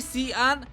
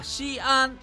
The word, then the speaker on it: Xi'an: bạn nghe đúng không X trong tiếng Trung được đọc là Sh nên không phải là Sian hay Csian mà là Xi An tên chính xác của